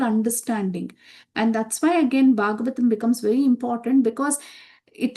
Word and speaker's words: Bhagavatam: Now, what does that word Bhagavatam stand for? It actually has 4 syllables in it.